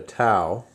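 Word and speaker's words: tau: for torque is not a t but a tow okay that's that's um pronounced to um it's a Greek letter and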